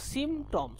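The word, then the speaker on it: symptoms: 5% রোগীর ক্ষেত্রে এই উপসর্গগুলো, দেখো সিমটমস, আমি এখানে SYM সিম এগিয়ে পি কে ধরবে, সিমটমস, এখানে পিটা সাইলেন্ট থাকে আসলে, সিমটমস টমস মে প্রোগ্রেস,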